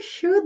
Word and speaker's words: should: You should know. E nós não pronunciamos a letra O nem a letra L.